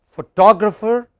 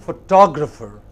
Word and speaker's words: photographer: You have photo, photographer, photography, but photographic. Can you pronounce these words once again? What is the first word? Photo. Next. Photograph. Next. Photographer. Photographer.